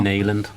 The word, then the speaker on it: Nyland: Have you noticed that I say Neeland and Nyland? I swap them. It's definitely Neeland, 100%. Yeah, I know that as well. Neeland. That's how you say it.